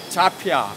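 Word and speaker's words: Zhafir: 아, 혹시 이제 발음은 어떻게 하면? 아 저기는 자피아, 독일 자피아. 브랜드예요. 독일 right. 브랜드. Zafir.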